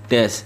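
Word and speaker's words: です: Su di sini belakangnya itu dibacanya biasanya pada saat pengucapan itu dibacanya hanya des. Jadi u-nya seolah-olah hilang. Jadi di sini des ya, desu ya, desu dibacanya des.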